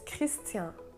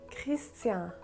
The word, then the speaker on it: Christian: so the first name the n in christian in french it's silent so it's christian christian the same goes for